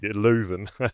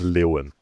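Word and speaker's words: Leuven: Leven. No. No, it's it's Lewan.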